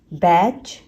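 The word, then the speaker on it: batch: TCH word, TCH word में सिर्फ CH का साउंड होता है, T साइलेंट होता है। कैच, बैच, फैच, पिच।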